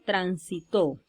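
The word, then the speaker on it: transitó: la tercera si la observen tránsito luego tenemos tránsito y por último tránsito observen como en estas palabras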